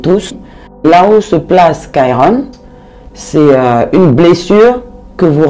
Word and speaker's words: Chiron: Et en anglais, on l'appelle Chiron. Je préfère le prononcer en anglais, Chiron.